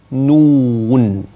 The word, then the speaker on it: نون: مع حرف نون، هكذا ينطق نون، كيف يكتب؟